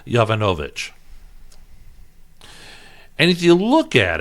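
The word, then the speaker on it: Yovanovitch: Clinton her name is Marie yo von ovitch sounded out multiple syllables that sounded out so it's Marie Jovanovic and if you look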